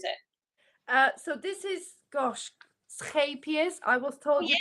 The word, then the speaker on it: Scheepjes: So this is, gosh, Scheepjes. I was told you pronounce it.